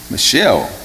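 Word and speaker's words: Michal: people said people told saul that his daughter michelle that's how you pronounce that michelle love david this made saul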